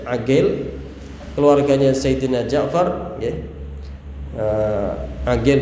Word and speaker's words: Aqil: Aqil ya, bukan Uqail.